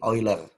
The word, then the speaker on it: Euler: Ini dibaca lebih mirip V ya, fungsi V Euler. Kata EU itu kan dibacanya kalau di negara Jerman kan jadi OI.